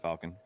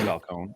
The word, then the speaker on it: Falcone: i don't know why i said that falcon because his name is falcone i don't know i'd